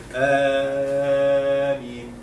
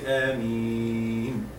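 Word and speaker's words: آمين: They say Ameen, and this is wrong. This is not right. It should be 2 beats, and then in the other one is Mad Arab al-Sukun. You can make it 2, 4, or 6. It's okay. So you should say Ameen. This is the right way of pronouncing.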